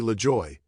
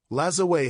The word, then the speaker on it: Lajoie: There are various ways to pronounce his last name, notably Lajoie, but according to some contemporary sources, this was how his name was pronounced during his playing days.